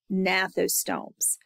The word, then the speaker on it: gnathostomes: That G is silent, gnathostomes.